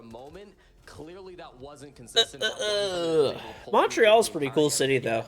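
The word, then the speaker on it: Montréal: So it's that's actually how you pronounce Montreal. It's Montreal, right?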